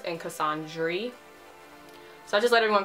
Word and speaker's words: Cassandre: My name ends with an E. A lot of people think it's a typo. It's not a typo. It's pronounced Cassandre, right? It's very French.